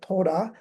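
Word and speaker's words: トラ: Well, soon after he is reelected, it says Mata Tora. Mata means again, and Tora is how Japanese people would somehow pronounce the first part of Trump.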